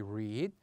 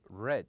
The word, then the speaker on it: read: And we said that if we want to pronounce it in the present, we would say read, but in the past we would say red.